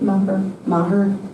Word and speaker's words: Maher: Maher. Is that how you pronounce it? Maher.